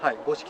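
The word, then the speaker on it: 五色: 読みますけれども、五色という品種ですね。ありがとうございます。五色って 5 色には見え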